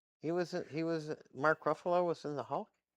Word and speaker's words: Ruffalo: And Marco Mark Ruf Rufo. Is that how you say it? Ruffalo.